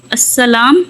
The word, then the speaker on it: السلام: پہ زبر۔ السلام علیکم، السلام میم پہ پیش، واو نہیں درمیان میں آتی، واو اکثر بچے